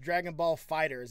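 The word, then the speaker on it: Dragon Ball FighterZ: ball fighters and I didn't know this it's pronounced dragon ball fighters is not dragon ball fighters II because the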